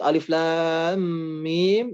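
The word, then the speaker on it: الم: huruf mukhoto'ah yang mana cara membacanya dibaca sebagaimana nama asli terpuruk tersebut Alif dibaca alif lam dibaca Lam Mim dibaca Amin hanya perbedaannya ya Yang membedakan adalah lam dan minimnya dipanjangkan 6 harakat dan Alif libpq-dev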